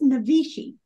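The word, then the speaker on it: Naivasha: Navasha. It's pronounced Navishi.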